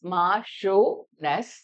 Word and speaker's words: Marchioness: This is pronounced as Marchioness.